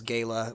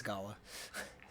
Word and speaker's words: gala: if you're from Texas Gayla which is incorrect it's Gala I now you've angered